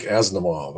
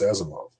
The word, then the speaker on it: Asimov: know i tried to try to correct people from calling him isaac asimov i says no it's asimov or isaiah isaiah was another mispronunciation i didn't use that